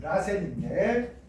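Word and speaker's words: らせん: 일본식 발음으로 하면 라센인데 나선 구조를 갖는다.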